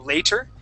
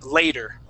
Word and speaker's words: later: t r okay uh we don't pronounce that t we pronounce that t as a d so instead of saying later we say later with a D sound